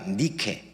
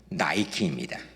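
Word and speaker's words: Nike: 일곱 교회에 모두 다 니케 니케 니케이 니케의 영어식 발음이 나이키입니다.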